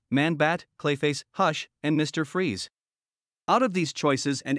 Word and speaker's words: Fries: Freeze was a scientist working for Gothcorp with the name Victor Fries, pronounced Freeze.